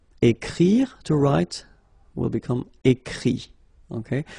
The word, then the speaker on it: écrit: Écrire, to write, will become écrit. Okay, remember that phonetically this final T doesn't exist. Okay, so the sound will be only this I, écrit.